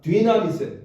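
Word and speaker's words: δύναμις: 했냐면 어 한번 따라해 봅시다 나미스 나 자 디나미스 디나미스이 디나미스 뭐가 거기서 나오냐면 여러분 다이나마이트 아시죠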